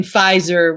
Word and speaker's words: Pfizer: My name is Pfizer with the P, but the P silent.